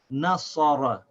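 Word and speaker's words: نَصَرَ: So the noon with fatha is na, sad with fatha is sa, ra with fatha is ra. So this is pronounced nasara, nasara, nasara.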